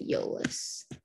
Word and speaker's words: Iolas: Yeah, so it starts with an I-O, but you pronounce it Iolas.